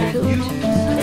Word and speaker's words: ewes: They're called ewes. That's spelled E-W-E. But it'd be like, hey, you.